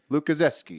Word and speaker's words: Lukaszewski: it out for me he's polish obviously it's ski at the end so just sound as a ski lukaszewski i'm in front he